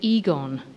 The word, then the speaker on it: Egon: resonates with your ambitions as in aegon sheila to pull a knickers down except you pronounce it egon damn plus women didn't